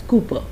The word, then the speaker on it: Cowper: William Cooper was born in 1731 and he lived till 1800. The surname is pronounced as Cooper, but it is spelled as Cowper.